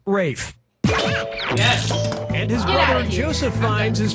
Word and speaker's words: Ralph: enjoy this excuse me name is spelled like Ralph but pronounced Rafe Joseph Fiennes is pronounced